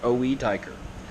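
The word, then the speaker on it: Oetiker: keep saying clamps pliers how do you pronounce that is it Oh Oh tiger oh it occur late Oh II Teicher I say it like oh a tiger that's how I say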